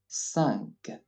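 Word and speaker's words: cinq: In order to know how to pronounce an E followed by an N, it's the same as a U followed by an N. 1. It's as if you would say unpredictable, but without pronouncing the N.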